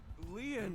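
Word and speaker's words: Lien: My name, Leon, is spelled L-I-E-N.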